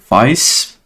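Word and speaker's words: Faiss: This is where a lot of this core functionality is implemented to deal with VICE. That's how you pronounce that, vector codebase, vector database.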